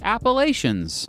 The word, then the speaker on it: Appalachia: In the northwestern part of the state, it has freaking mountains, part of the Ridge and Valley Appalachians. Okay, I know the locals pronounce it Appalachia.